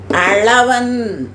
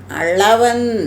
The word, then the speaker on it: அளவன்: சந்திரன் என்பது ஒரு பொருள் அளவன் அளவன் நாக்கு நடுவுல போணும் அண்ணத்தின் நடுவுல போகும்போது உப்பு தயாரிக்க கூடியவர்கள் இருக்காங்கல்ல